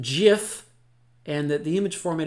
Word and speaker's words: Jif: key though is that the brand of peanut butter is pronounced jiff and that the image